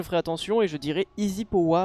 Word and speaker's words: EZpowa: Est-ce que Wingo pour Espoa, est-ce que ça, on prononce pas Easy Poa? J'avoue que je ne sais même pas. Je vais lui demander. Mais pourquoi j'ai pas l'HUD? Au secours? HUD? Allô? Oui, ça se dit Easy Poa.